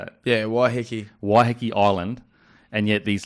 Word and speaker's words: Waiheke: Yeah, Waiheke.